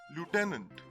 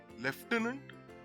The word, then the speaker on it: lieutenant: british english as lieutenant there is a mention of an f here even though it does not exist in its spelling leftenant and lieutenant english